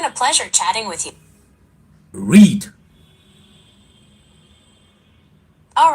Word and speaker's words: Hreed: r e e d h is silent so basically it's read I sure okay that's